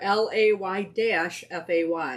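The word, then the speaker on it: Laufey: Leify. Yeah. Which is? They have it spelled out right there. LAY-FAY. So we're going with Leify.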